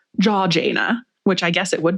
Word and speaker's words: Georgiana: I actually saw a pronunciation note from a British writer that was pronounced jaw like your jaw. Jaw Jana, which I guess it would be.